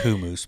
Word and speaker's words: hummus: bread Peta bread celery and baby carrots with hummus it's really pronounced kumus but I know most people don't pronounce it